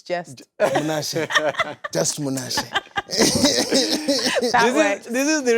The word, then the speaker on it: Munashe: It's Munashe, just Munashe.